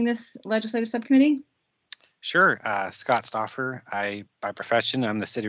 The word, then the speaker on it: Stauffer: So just formally, Scott Stauffer. Is that the right way to say your name, or is it more Stauffer? Stauffer. Stauffer. Neither of the ways I said it.